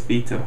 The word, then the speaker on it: Vita: PS Vita. Not Vita, they actually pronounced it right.